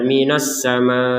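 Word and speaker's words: السماء: dibaca minasama seperti itu Jadi tidak sekedar minasama seakan-akan hamzahnya ditinggalkan ataupun dibacanya tidak jelas padahal ini ada huruf hamzah Jadi ada sedikit tekanan walaupun tidak terlalu tekan juga ya minasama seperti itu hamzahnya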